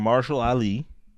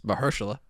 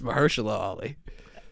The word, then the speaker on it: Mahershala: Your Mother, starring Marshall Ali. Marshall? Is it not Marshall? It's Mahershala. Is it? Yes, it's Mahershala Ali.